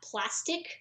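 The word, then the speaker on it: plaest2k: is uh on twitter it's plat plastic but it's it's spelled p l a e s t 2 k um i want to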